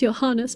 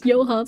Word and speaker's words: Johannes: I know his name should be pronounced Johannes because he's German, but this game pronounces Johans. So now I'm starting to pronounce it as Johans as well.